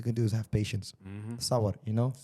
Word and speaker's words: sabr: Sabr, you know? Sabr. Is it sabr? Sabr.